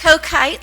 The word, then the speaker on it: Kachoit: It's co-kite, like you drink a Coke and gosh. fly a kite.